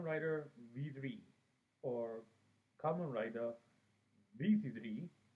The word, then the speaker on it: V3: v3 or kamen rider vc3 as is pronounced in the original japanese language well this is the